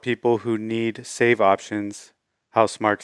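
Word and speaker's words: Housemarque: let's jump right into the first story uh house marquis says we hear the community as returnable players call for save and quit option i think it's pronounced house mark house mark okay um so house mark has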